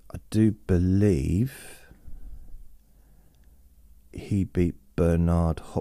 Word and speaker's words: Bernard: it out Berard Hopkins we say burnard in this country but because I'm both a fan and kind of scared of him I want to say his name correctly that he would say it and I think he would say it's Bernard but everyone in this country